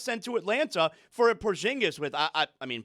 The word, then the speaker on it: Porzingis: But still, are you pronouncing that differently? And that sounded totally insincere. I hope he's okay. Can you please I say it Porzingis. I don't say it Porzingis. I say it the right way. Okay. I I What do you know? I actually believe that he's saying it correctly and I'm saying it wrong.